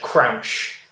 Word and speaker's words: Crouch: I was going to say not Crunch, Crouch. Crouch.